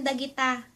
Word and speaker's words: dagita: And you can answer, "Those are pens," or in Ilocano, "Bolpen dagita." You can tell me, Bolpen dagita da gi ta "Anya dagitoy?"